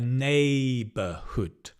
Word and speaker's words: neighborhood: a So it's a neighborhood. A neighborhood, but it's not ne it's b neighborhood because we stress nay and we don't stress B.